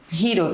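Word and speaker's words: Hiro: Hero, que é um nome de origem japonesa que a pronúncia coincide com a palavra inglesa para herói, hero e protagonist.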